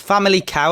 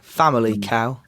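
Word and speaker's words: Famalicão: so yeah it's a family cow apparently family cow family cow that's how you say it yeah someone told your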